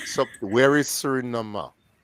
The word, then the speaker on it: Suriname: Surinama. Surinama. The right pronunciation is Sudinama.